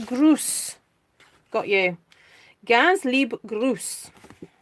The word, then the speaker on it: Gruß: it's pronounced Gruß.